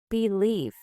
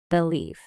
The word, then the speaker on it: believe: Believe. Repeat. Believe with stress on the leaf syllable.